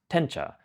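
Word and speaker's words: 点茶: preparation, whisked tea or diencha in Chinese. In Japanese, this is pronounced tencha, not to be confused with tencha, the raw material that gets ground into matcha.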